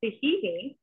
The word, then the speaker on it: tahini: Yeah, so it's pronounced tahini, and that is made out of sesame seeds.